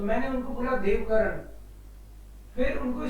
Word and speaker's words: देवकरण: मेरे को, मैं सीमेंस में था तो मेरे को देवकरण बोलने लग गए थे वो जर्मन्स, वही ये देवकरण। मैंने कहा भाई ये तो बिगाड़ देंगे नाम, तो मैंने उनको बोला देवकरण।